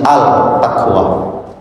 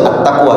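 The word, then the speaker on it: At-Taqwa: dan terbakar namanya masjid altaqwa ya seharusnya itu Attaqwa seperti juga alsyam arusnya Asyam Tetapi kalau pengucapan bukan dalam bentuk bahasa Arab itu ya Gak ada masalah al takqwa itu kena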